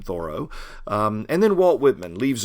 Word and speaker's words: Thoreau: Henry David Thoreau, who wrote Walden, or as he would have pronounced his name, Thoreau.